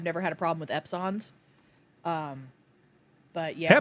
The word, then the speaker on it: Epson: I personally have never had a problem with Epsons. But yeah. Epson? You mean Epson? EPSON. I've never heard anybody put stress on that second syllable before.